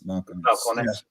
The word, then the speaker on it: Balcones: got its name so it is pronounced like the V so it is vcon Balcones balcon try to contain